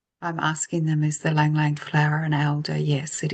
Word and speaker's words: ylang ylang: So they're sending through the aroma of lang lang oil. Some people pronounce it ylang ylang.